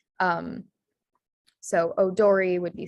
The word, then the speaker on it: odori: for this is that the o sound in japanese is spelled with an o and then the e sound in japanese is spelled with an i um so odori would be spelled o-d-o-r-i